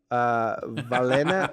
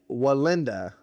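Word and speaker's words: Wallenda: am very sorry, but I believe it's Nick Valenda. I like the accent. That helps. No, it's Nick Walenda.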